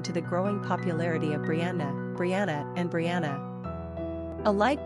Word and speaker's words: Bryanna: Pronunciation, Brianna.